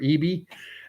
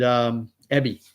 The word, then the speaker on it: Eby: No, the current premier of the province of BC is Eby or Eby, and Eby, I think is the way it's pronounced.